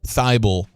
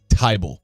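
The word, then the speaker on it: Thybulle: was calling him Matisse fiebel for the last I don't know 48 hours or so turns out H is silent it's a table now it spells t-h-y bull so I've been saying Matisse thibal but um it's actually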